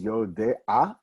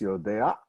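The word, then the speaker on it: יודע: The ayin actually is pronounced after the ah, but since we don't pronounce it much, you don't hear the difference.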